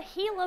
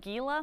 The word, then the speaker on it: Gila: request okay uh talk to us about the hila monster yeah so a lot of people pronounce it Gila monster it's spelled GI laa but if you